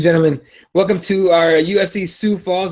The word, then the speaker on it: Sioux Falls: Welcome to our UFC Sue Falls that's how you say it sue su falls yeah